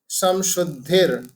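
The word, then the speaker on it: सत्त्वसंशुद्धिः: तो जो हमने पहली लाइन जो हमने उच्चारण की, उसमें एक चीज आपको ध्यान रखना चाहिए कि हमने जो र है, जो समशुद्धिर, राइट। तो जो र है हमने ब्रेक लिया है वहां पे धी के बाद में, इसलिए वहां पे विसर्ग हो गया। ठीक है। इसलिए कैसे प्रोनाउंस करेंगे? अभयम समशुद्धि, राइट।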